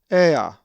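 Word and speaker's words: ἔα: A Greek word that has the lowercase epsilon is ea, which is like an explanation like ah, and is number 1436. The accent is over the epsilon.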